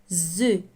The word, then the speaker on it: œufs: On prononce pas la lettre F. les plus gros œufs et quand elle veut